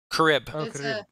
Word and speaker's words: Charyb: again robert or um crib like crib with an extra a okay k-h-a-r-u-b yeah in